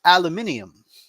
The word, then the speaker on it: aluminium: to do the painting to compare to It's pronounced aluminium you're right you're right aluminium brush methos I've